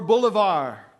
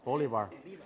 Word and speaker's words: Bolívar: Or Bolivar. Or- Bolivar. Bolívar. Bolivar. Bolívar. Sorry, my gringo pronunciation threw you. Lo pronunció diferente.